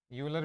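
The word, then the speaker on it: Euler: This is called ऑयलर phi function. यूलर भी पढ़ सकते हैं, काफ़ी लोग पढ़ रहे होंगे, कोई इसमें चिंता की बात नहीं है। बट I will pronounce it एज ऑयलर phi function.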